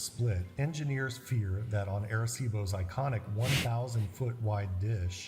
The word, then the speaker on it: Arecibo: How is his pronunciation? of Terrible. Arecibo.